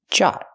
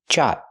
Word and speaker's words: jot: Use the hard J sound like jump and juice. Use the open a sound like hot and stop. Jot. Make a stop t. Stop the air. Jot.